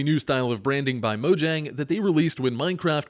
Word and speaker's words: Mojang: the company name and said that it is now officially Mojang, not Mojang.